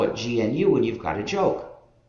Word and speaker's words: GNU: than 18 years so it's not the new system anymore but it still is the gnu system and that's the way